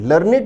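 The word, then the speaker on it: learned: में इस संदर्भ में इस शब्द का प्रोनंसिएशन होगा लर्निंग लर्ड लर्नेट का अर्थ है ज्ञानी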